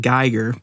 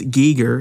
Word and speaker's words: Giger: Swiss artist HR Giger I know some of you may have pronounced it Gyer but supposedly it's Giger HR Giger passed away